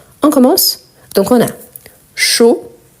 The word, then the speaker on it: chaud: commence donc on a chaud chaude vous avez remarqué la prononciation chaud je ne prononce pas le D chaude je prononce le D les e à la